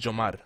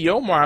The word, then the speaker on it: Yomar: It's Yo and Mar. You But can't it's get it wrong. pronounced. How's it pronounced? Oh, in Spanish, it's Yomar. See? But you can say, if you say Yomar, I'm not offended because that's correct Right.